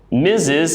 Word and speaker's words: Mrs: difficult to understand we go down to Mrs misses it's pronounced like with a z Miz is Mrs